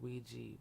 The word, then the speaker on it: Ouija: that you know what a Ouija board pronounced we or Ouija board is it is the